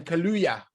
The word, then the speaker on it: Kaluuya: Kaluuya.